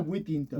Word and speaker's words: Withington: ¿Está bien pronunciado? Whittington.